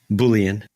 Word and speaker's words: Boolean: Like we don't think of things in Boolean phrases, right? Am I saying that right? Is it Boolean? Boolean. Oh, Boolean, my bad.